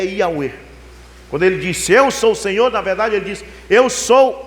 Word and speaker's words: Yahweh: Na verdade, no original não está escrito Senhor, está escrito YHWH, que a pronúncia é Yahweh.